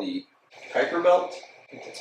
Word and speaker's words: Kuiper: neptune we get another asteroid belt called the kuiper belt that's how you pronounce that and then even further out it's